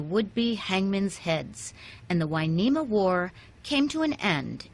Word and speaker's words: Hueneme: to the Spanish version winema spelled with an H and you to make the W sound the wharf brought life